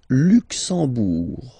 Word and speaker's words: Luxembourg: Le Luxembourg, okay, final G not pronounced, and then when you combine this E-M here, you get the sound en. You don't pronounce the M at all, it's this nasal en, okay?